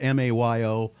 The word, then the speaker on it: Mayo: Like mayonnaise. No, actually, I heard it. It's spelled M-A-Y-O, but it's Mayo.